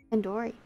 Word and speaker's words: tandoori: Surely you at least recognize tandoori chicken. You're saying it wrong. Wait, really? Tandoori? Tandoori. Tandoori. The do isn't like door, it's like doo-doo head.